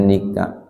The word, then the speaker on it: NICA: kemudian ternyata diboncengi oleh ni Ca tulisannya ni Ca NICA dibacanya Nika Iya makanya kemudian terjadi peperangan